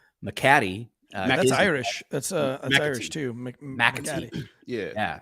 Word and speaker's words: McAtee: talk about with, I don't know how to pronounce his last name, but David, his nickname is Yaya. McAtee. That's is- Irish. That's McAtee. Irish too. McAtee. Yeah, McAtee.